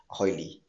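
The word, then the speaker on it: Hoyle: वो थे फ्रेड हॉयली और फ्रेड हॉयल. आप दो प्रकार से उसको प्रोनाउंस कर सकते हैं.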